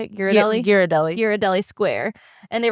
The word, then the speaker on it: Ghirardelli: But Dad tries to salvage the day, and so he takes Ivy and Julie to Ghirardelli Square. Is that how you say it? Ghirardelli?